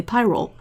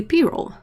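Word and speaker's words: pyrrole: is named p-roll and i think 99 of the people who use the pigment will say pyrol because they don't know any better and it doesn't come with the pronunciation guide but when you look into it it's actually payroll and the first sort of website i found that had the audio of how you pronounce it had it both in english and in uk english and it's payroll and fine the number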